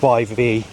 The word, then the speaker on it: Yvonne: It's not exactly the sexiest type of name, I must admit, but it rhymes with gone, and it rhymes with one, and stuff like that, so that's how I remember the name, because I never heard of the name before.